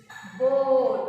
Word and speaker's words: board: So here O is speaking vowel and A is silent one.